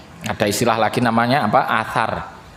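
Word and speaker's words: atsar: Athar. Athar, A-T-S-A-R itu. Tapi kalau menggunakan hijaiyahnya hamzah sa alif ra, itu athar.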